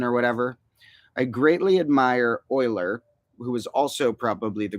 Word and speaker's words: Euler: whatever I greatly admire Euler who is also probably the greatest mathematician of all time e-u-l-e-r but pronounced more like Euler um and he was